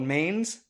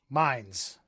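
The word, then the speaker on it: Mainz: You said you were in a town called Mains. Mines. Mines.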